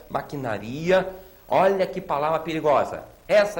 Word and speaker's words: maquinaria: Maquinaria e não maquinária. Maquinaria.